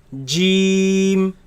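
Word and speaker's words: ج: completely closes so and it is incorrect to pronounce it as with the ge sound no game right in the quran is pronounced as jim next letter has alif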